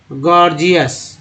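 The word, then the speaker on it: gorgeous: GOR GEOUS, पहला जी ग, दूसरा जी ज, गॉर्जियस।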